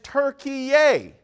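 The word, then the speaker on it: Türkiye: Turkey, the country, is attempting to rebrand and now wants to be known as Turkey-yay. Yes, it's pronounced Turkey-yay in an effort to distance itself from the bird of the same name.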